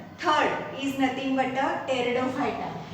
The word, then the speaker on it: Pteridophyta: The division third is nothing but a Pteridophyta. Here P is silent, therefore we write it, we spell it as a Pteridophyta.